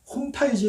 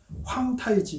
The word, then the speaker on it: 홍타이지: 우리 가 홍타이지 라고 부르는 것 은 다음과 같습니다 . 중국어 발음 은 황타이지 입니다 .